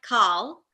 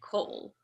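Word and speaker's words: כל: see this specific word, that's one of those times when we're going to pronounce the kamats as an O. So that one's going to turn into kol.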